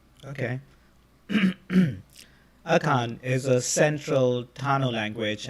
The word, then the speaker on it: Akan: So it's pronounced Akan. Okay. Akan is a central Tano language and the principal